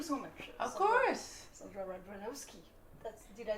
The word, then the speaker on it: Radvanovsky: Sondra Radvanovsky. Did I say it right ? Yes, you got it, Radvanovsky.